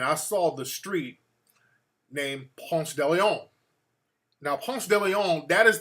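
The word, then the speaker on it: Ponce de León: So the correct pronunciation is Ponce de Leon.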